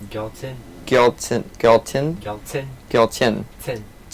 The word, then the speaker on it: Gyaltsen: Tell me how to pronounce that right. Gyaltsen.